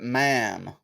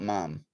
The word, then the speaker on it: ma'am: contributes to hair growth pronounce it ma'am not mum ma'am i pronounce it mum so it actually makes